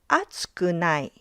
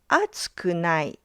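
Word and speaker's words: 熱くない: For group one, it's pronounced as atsukunai. atsukunai The pitch drops right after the first mora.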